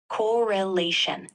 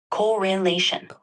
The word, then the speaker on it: correlation: that word is pronounced correlation with the emphasis on the third syllable correlation an illusory correlation is